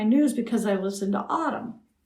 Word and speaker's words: AUDM: And they said, oh yeah, I'm caught up on all my news because I listened to Autumn. How do you spell that?